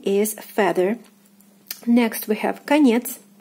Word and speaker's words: конец: Next we have конец, конец. E is stressed, O is unstressed, is pronounced as A.